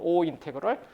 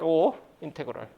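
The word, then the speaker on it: ∮: O 인테그럴. 이런 기호를 뭐라고 하냐면 O, 알파벳 O 인테그럴. O 인테그럴이라고 읽어요.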